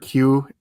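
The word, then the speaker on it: queue: Have you ever seen that thing about uh the word Q is like the letter and then it's followed by like five silent letters.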